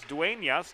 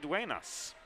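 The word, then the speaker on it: Dueñas: during the second intermission there is a tilda over the end it is dwayne yes not duenas so siento for the first 40 minutes mispronouncing her last name james has been a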